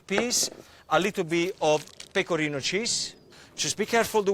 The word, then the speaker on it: pecorino: Just be careful the way you pronounce it, because pecorino with an O is the cheese. If you put an A at the end and you call it pecorina, that means get closer.